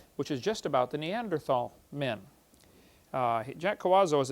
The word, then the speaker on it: Neanderthal: By the way, in case you don't know, the Neanderthal Neanderl, the H is silent. Neander tall man is named after